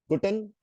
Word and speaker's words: Guten: Here, if you say Guten, every letter, every word is supposed to be pronounced. Every letter is supposed to be pronounced precisely.